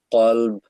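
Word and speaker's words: قلب: কলব ভার্সেস ক্যালব, কুকুর, আহ, মানে হচ্ছে ক্যালব, আর কলব হচ্ছে তোমার হার্ট, অন্তর।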